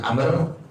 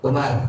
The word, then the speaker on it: Amr: Imam Zaid bin Amr Jadi kalau ada kalimat ini ada waunya itu dibacanya Amr Tapi kalau nggak ada wallah dibacanya Umar tuh begitu namain tuh nandain Ini bacaan dibaca Amr atau dibaca apa Umar tuh kalau Umar itu tidak ada warungnya kalau ada warung makan dibaca Amr tuh jadi jangan tertukar tuh